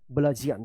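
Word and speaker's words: bludgeon: एन ब्लजियन क्या पढ़ेंगे ब्लजन तो इस तरह से जो है अगर डी और जी एक साथ है तो क्या उच्चारण होगा ज उच्चारण होगा।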